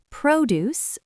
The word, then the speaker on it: produce: Produce, fresh fruits and vegetables. Stress on the first syllable.